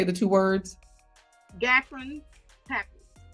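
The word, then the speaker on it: Gottron's papules: Gatron's papules. Gatron's papules.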